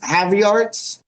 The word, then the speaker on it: Havertz: Havertz? The guy who scored yesterday. Havertz.